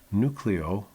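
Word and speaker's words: Newcleo: Nucleo, which by the way is spelled N-E-W-C-L-E-O, Nucleo has agreed to merge with New York-based SPAC, Special Purpose Acquisition, SPAC Newhold Investment Corp.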